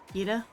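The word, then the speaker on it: Geeta: Gita? Okay, I pronounced her name Greta during that whole video. Did you? She doesn't even have an R. It's G-E-T-A.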